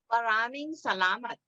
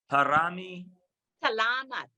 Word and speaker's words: Maraming salamat: Maraming salamat. Parami Salamat.